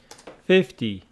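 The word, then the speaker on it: fifty: that one is pronounced 50 with the stress on the first syllable 50 50 so 15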